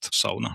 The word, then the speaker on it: sauna: I'm glad you are using the word sauna and pronouncing it as it is, because I'm doing it too, and some people are saying sauna and like trying to make it sound more English, but this is kind